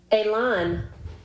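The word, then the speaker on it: élan: Elan. Elan. Elan? Elan. And it's spelled E with a little apostrophe on it.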